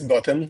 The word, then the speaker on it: Gautam: my name is Gautam. That's how we pronounce the name.